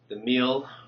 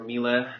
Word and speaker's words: Miele: Hi, in this video I'm going to show you how to take apart the Miele or Miele, depends how you want to pronounce it, the vacuum cleaner, part of the vacuum cleaner, how to take it apart.